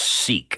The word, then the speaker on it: Sikh: Wow, it's pronounced Sikh. I was wrong. It's Sikh, not chic. Sikh. I knew it was. I knew the way you said it. It wasn't sick.